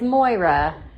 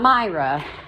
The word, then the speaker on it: Moira: And it is Moira. It's not Myra. That's a totally different name.